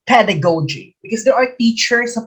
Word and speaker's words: pedagogy: box okay it's pronounced pedagogy because there are teachers who pronounce it pedagogy it's pedagogy the accent is on the first syllable when you say portmanteau